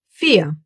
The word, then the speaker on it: vier: Yes, the Germans will most of the time pronounce this letter like you would pronounce the English F.